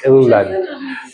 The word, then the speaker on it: Irland: Irland. And we, in German we drop the E. Irland. Irland. Is the letter we have to practice. Irland.